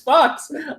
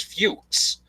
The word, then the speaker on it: Fuchs: My family doesn't want to honor the pronunciation that it's supposed to be, which is Fuchs. My family decided, hey, it's Fuchs, but we're going to pronounce it like Fox and just fuck everybody up.